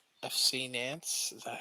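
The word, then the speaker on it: Nantes: looking at is french too okay what team nance fc nance is that how you say it in french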